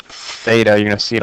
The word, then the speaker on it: theta: a Greek letter um it's literally with a th pronounced Theta you're going to see